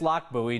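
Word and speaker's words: Lochbuie: But it's Loch Buoy. Name comes from the village in Scotland.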